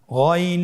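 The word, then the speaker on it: غ: এই গইন হরফটি মোটা অক্ষর, উচ্চারণ করার সময় অবশ্যই মোটা করে বলতে হবে।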